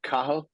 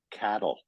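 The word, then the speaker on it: Cathal: um is it's pronounced kah it's spelled c a t h l you don't pronounce the T and it's pronounced kah when I came to Canada the kids at school were calling me Cattle because they they were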